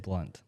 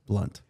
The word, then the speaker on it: Blount: say your last name you say it blunt blunt blunt so uh